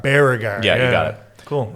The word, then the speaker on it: Baragar: James on 104.3 yeah but it's baragar baragar yeah you got it cool I wasn't pronouncing it right it's okay it's it's again